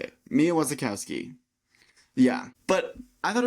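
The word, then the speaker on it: Wasikowska: Mia Wasikowski. That's not how you say it. Mia Wasikowski.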